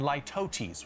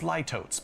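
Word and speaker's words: litotes: I'd also encourage you to use hyperbole and lootesis, which I always want to read as lototes, but that's not how you say it.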